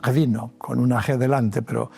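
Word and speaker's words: ღვინო: wine in Georgia is gvino with a G in front but phonetically it is vino.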